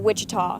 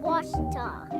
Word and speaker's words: Ouachita: Back in Texas, everybody pronounces it Wichita, but really, it's Ouachita. Ouachita. Ouachita. How would you pronounce it? Ouachita. Ouachita. It's Ouachita Baptist University. Get it right. It's Ouachita, people.